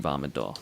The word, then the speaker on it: Vah Medoh: And, you know, if I keep doing that, people will actually think that I believe that's how it's pronounced. So maybe I should start saying Vah Medoh like a normal person.